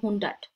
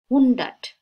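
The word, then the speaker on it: hundert: 100 German ভাষা তো হুন্ডাট উচ্চারণটা একটু ডিফারেন্ট হবে কারণ আমরা জানি উ হচ্ছে একদম উ জার্মান ভাষায় আমরা যেটা লিখছি শব্দগুলো যেভাবে লিখছি ঠিক সেভাবেই উচ্চারিত হবে বাংলা ভাষার সাথে প্রচুর মিল আছে হুন্ডাট হুন্ডাট আইন হুন্ডাটও বলে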